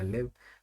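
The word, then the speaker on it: live: अगर मैं बोलता हूँ लाइव मैच तो इसको लाइव पढ़ना पड़ेगा, और अगर मैं बोलता हूँ आई लिव इन इंडिया तो इसको पढ़ना पड़ेगा लिव। तो ये बहुत फेमस डायलॉग है, हाउ डेयर यू।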